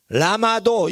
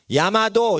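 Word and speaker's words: llamado: 근데 이게 Y자 발음이 된다고 제가 들었어요. 근데 야가 되는 거예요. 그러니까 불편하게 발음이 돼 있는데 그거를 편하게 발음이 돼. 신라 이렇게 안 하고 신라 이렇게 하듯이 사람들이 편하게 발음하기 때문에 그 발음을 하는데 그냥 어린이들은 라마도 이렇게 읽어도 돼요. 그냥 라마도 이렇게 야마도 이렇게 읽어야 된다고 그러지만 그냥 라마도 이렇게 읽어도 야마도나 라마도나 그게 편하게 말하려고 하는 거예요.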